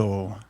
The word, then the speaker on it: Lagozo: That's how you pronounce it. Okay, just come a little closer. Lagozo. Okay, awesome.